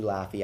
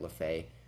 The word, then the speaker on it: Laffy: me for pronouncing it lafaye i sorry for that it's actually laffy like laffy taffy she did say that it was pronounced where the e was kind of silent and i was like